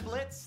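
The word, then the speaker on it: Blitzø: are we yeah I'm Blitz the O is silent now I'm sure we're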